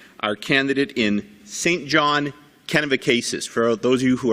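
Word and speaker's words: Kennebecasis: recogniz Melissa young our candidate in St John kenev cases for those of you who are from away that might seem an odd pronunciation but that is how we pronounce it kenabicis it's a great riding and I know Melissa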